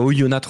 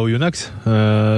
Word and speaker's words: Oyonnax: La victoire de Montpellier à Oyonnax, c'était vraiment le match. Alors on dit Oyonnax normalement.